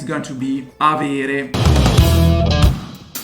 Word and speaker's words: avere: to have in italian it's going to be aviri the verb to have expresses mainly the